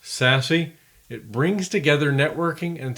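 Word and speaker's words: SASE: zero trust Network architecture abbreviated sasc pronounced sassy it brings together networking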